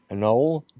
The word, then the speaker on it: anole: Anole?